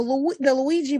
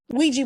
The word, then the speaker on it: Ouija: The Luigi board. I think I'm saying it wrong. Ouija board, right?